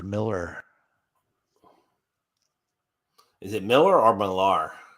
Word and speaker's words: Millar: is it Miller or malar it's pronounced Miller according to Mark Millar that is pronounced Miller